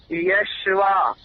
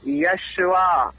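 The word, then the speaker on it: Yeshua: ईशू भी नहीं है उसका रियल जो प्रोनाउंस ओरिजिनल ब्री और ग्रीक में आप देखेंगे ना वह यशवा वाय यू एस एच ए यशवा जोशुआ है सर मैं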